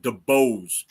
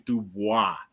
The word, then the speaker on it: Dubois: I read it DeBose, but I know his name's Dubois.